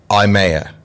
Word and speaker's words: IYAMAH: honest, do you know how to pronounce my name? IYAMAH.